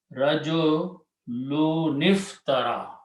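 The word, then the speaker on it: رَجُلٌ ٱفْتَرَىٰ: So what we do, we leave it one sound, Rajo, and then take the sound of noon and drop this thing, Alif, and combine noon with the fa.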